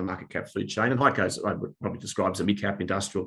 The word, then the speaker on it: HEICO: Is that how you pronounce it? HEICO, yep.